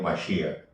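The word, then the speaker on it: מָשִׁיחַ: La palabra Cristo en hebreo es Mashiach, se pronuncia en hebreo Mashiach, al-Mashiach. En griego significa Cristo, que significa ungido.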